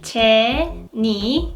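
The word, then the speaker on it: Jennie: is the next Jenny her stage name is Ted knee in Korean Ted knee I think there was no difference between English and Korean pronunciation her stage name is Jenny everyone knows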